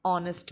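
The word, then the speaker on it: honest: एन इज use before those words where H is silent, उन words के आगे भी यूज होता है एन जहाँ पे एच वर्ड साइलेंट होगा, जैसे एन आर, एन ऑनेस्ट मैन, तो इनके जो एच वर्ड इसमें यहाँ पे साइलेंट है, तो यहाँ पर भी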